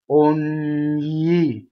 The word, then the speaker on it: ogni: So it's an N with a Y after it. Ogni, yi, right? So again, the second part is yi, and then you phonate an N before it. Ogni, and that's how you get both parts.